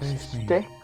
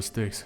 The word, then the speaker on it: Styx: How did you pronounce stick? Fuck, it's the river Styx.